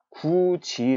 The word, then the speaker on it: 굳이: 라고 할 때 요 굳이 우리는 국 이라고 끊어 발음 하지 않습니다 그렇다고 구디 가고 하지 않습니다 굳이 라고 발음을 하죠 자 이렇게 된 데에는